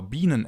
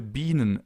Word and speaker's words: Biene: I now want to show you the difference between the sharp S, the normal S or Bienen S, and the double S.